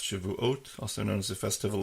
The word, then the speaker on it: Shavuot: is describing this holiday of shabas or pronounced Shavuot also known as a